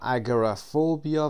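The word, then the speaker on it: agoraphobia: خب اسامی رو میخونیم: اکروفوبیا و اگرافوبیا و یا اگرافوبیا. میتونید این صدای او رو با شوا تلفظ بکنید یا اینکه حذفش کنید نگید، به این شکل اگرافوبیا و یا اگرافوبیا.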